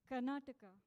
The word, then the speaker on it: Karnataka: Karnataka. Hold on. Bangalore. Hold on. I got to say it. You got to spell it for me.